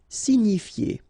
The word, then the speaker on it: signifier: Signifier. Okay, it's quite strange, but remember that G-N-I, ni, signifier.